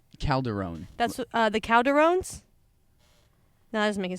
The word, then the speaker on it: Calderon: but I feel like not saying my last name wrong how do you say your last name Calderone that's uh the Calderon no that doesn't make